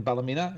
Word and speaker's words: Ballymena: the northern realms of Ireland in the pleasant Bella Mina mr. Robin Tate huh he asked me hi it's Robin here one with the CN I am correct the pronounced in Ballymena in Northern Ireland if you look at the